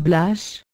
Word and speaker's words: Blache: Les Blachus, dérivés de Blache, prononcé Blache, toponyme très fréquent en Champsaur, signifiant bois, taillis.